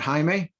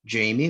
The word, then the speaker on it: Jaime: I've been called many things that are not Jaime. I've been called Jamie. That's a popular one. I've been called Jaima. Been called actually one time, which doesn't make any sort of sense.